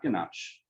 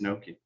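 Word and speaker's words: gnocchi: I wanted to think that that was ganache. It's not ganache, it's Noki.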